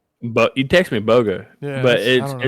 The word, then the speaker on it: Bogan: it's spelled Bogan. Now, when I listened to the book, he It said says Boga. Yeah. So I don't know. So I don't know. Maybe the N silent.